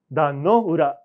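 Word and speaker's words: 壇ノ浦: 난노우라라고 합니다. 아까 카츠우라고 이거 우라라고 읽은 겁니다.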